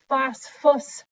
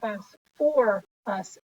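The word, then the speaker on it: phosphorous: say fast for acid you wouldn't say phosphorus acid you would say fast for us acid you're gonna need some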